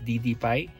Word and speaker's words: DDPAI: ito yyung installation ng ddp so ang tamang pronunciation is ddp tulad ng sinasabi ng pag ino-on natin to